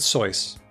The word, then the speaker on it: Seuss: in pronouncing it Seuss he pronounces it soy but eventually he relented and called it Seuss just like everybody else wow sometimes the uh